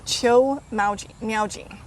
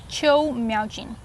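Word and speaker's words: 邱妙津: And how do you pronounce the author's last name? Qiu Miaojin. Qiu Miaojin.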